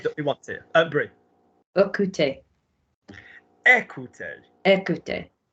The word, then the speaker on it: écouter: Écouter. Écouter. Écouter. E acute, pronounced E.